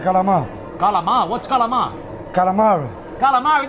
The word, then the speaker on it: calamari: He ordered 5 calamari.